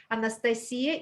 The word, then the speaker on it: Anastasia: now and i'm sorry i mispronounced you nes i said anastasia it's a slovenian way of saying your name but internationally uh more proper probably anastasia so anastasia right now